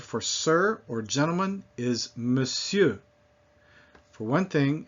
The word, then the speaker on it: monsieur: sir or gentleman is monsieur. For one thing, it's not mon, it's just me, in spite of the way it's spelled, and sieur not pronouncing the R.